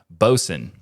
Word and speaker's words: Boatswain: But this new application is called Bosun. Just to be clear for the audio listeners of TWIL, it's spelled like boatswain, but pronounced bosun.